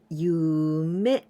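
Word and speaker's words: 夢: Yume.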